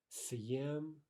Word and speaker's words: съем: To say first a hard S, then follow that with a soft vowel.